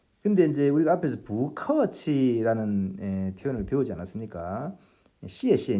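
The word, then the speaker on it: 不客气: 원래 이 글자는 뿌하고 발음해야 하는 자인데 이 경우에는 뿌가 아니라 부커치가 아니라 부커치 이렇게 발음했다는 거예요. 자, 이 경우에 이제 성조 변화가 일어난 것인데 그 내용이 어떤 것인지 보십시오. 바로 이것입니다. 뿌라는 말 뒤에 다시 사성, 제4성으로 발음해야 하는 글자가 올 때 이때는 이 뿌를 사성이 아니라 이성으로 부하고 바꾸어서 발음한다.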